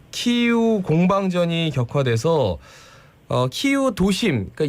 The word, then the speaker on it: 키이우: 근데 위성사진을 주말에 찍은 위성사진을 보니까 대규모 러시아군이 이제 수도 키예프, 이제는 키이우죠.